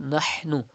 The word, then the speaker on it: نَحْنُ: Pronounce ha from the middle part of your throat. Do not read nahnu, but nahnu.